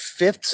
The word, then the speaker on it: fifths: tough one right so it's just it's fifth fifth fifths fifths i know it's a tough one guys three fifths good